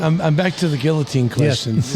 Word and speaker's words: guillotine: But it's true, you know, you just ignore most of the letters.